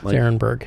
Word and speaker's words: Arenberg: aronburg or Arenberg aronberg you see a e and people think R aronburg that's how that's how we pronounce it how we that's